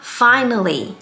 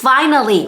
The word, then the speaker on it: finally: ก่อน คือ คำ ว่า finally อ่า finally มัน ดู เหมือน 3 พยางค์ ใช่ ไหม คะ แต่ ว่า เวลา ที่ คน พูด จริง ๆ หรือ เวลา ที่ มัน อยู่ ใน เพลง ค่ะ มัน จะ ออก เสียง ว่า finely And You Find English